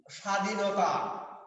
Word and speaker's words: স্বাধীনতা: যেমন আমরা যখন লিখি স্বাধীনতা তখন বফলার কোন উচ্চারণ নেই।